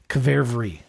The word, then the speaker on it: qvevri: The country of Georgia, where they fermented the wine in underground clay pots called kvervri, I think. I don't know actually how to say it, but it's QVEVRI. QV. Not QU, QV.